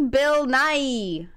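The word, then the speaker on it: Bill Nighy: how to pronounce this Bill Nye English actor there you go nice like Bill Nye the Science Guy okay uh that guy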